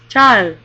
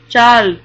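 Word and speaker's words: 잘: Now, chal, chal, you see that it's pronounced L, chal, because the liulu sound appeared after the vowel R.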